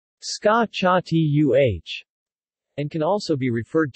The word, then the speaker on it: scacciata: The word scacciata is pronounced scacciatuh and can also be